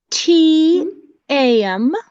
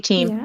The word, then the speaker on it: Tam: back so um t a m I'm just gonna call you team I'm sorry can you pronounce that for me um it's actually if you spell it it's t-a-m and my name's Tam that's really nice so